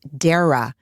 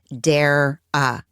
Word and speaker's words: Dara: It seems like her name is pronounced Dara. Dara. Dare I say her name is Dara. Dara. So until I hear otherwise, I am going to do my very best to pronounce her name as Dara.